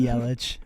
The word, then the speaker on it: Yelich: It depends who you ask, but it could be Yelik. It could be Yelich.